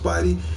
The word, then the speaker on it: SPYD: That is pronounced Spidey. That's SPYD _09 on PlayStation Network.